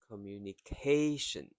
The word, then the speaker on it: communication: Number 5, communication. Communication. Communication. So the first 4 syllable is faster, K slows down, and then ending with shin. Communication.